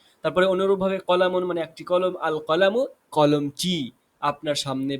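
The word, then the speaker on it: القلم: আর কলামু আল কলামু, আলিফ লামের উচ্চারণ আসছে।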